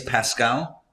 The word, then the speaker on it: Pascal: But allegedly this happened where it was Louis XIV, King Louis XIV, who turned to Blaise Pascal. Is that how we pronounce his name?